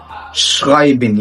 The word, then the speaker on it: schreiben: بعد كده معانا مقطع برضه هتلاقيه بيقابلك كتير جدا في الكلمات، مقطع الاس سي اتش وده بيتنطق ش. zum Beispiel شولة يعني مدرسة. أوضة schreiben يعني يكتب.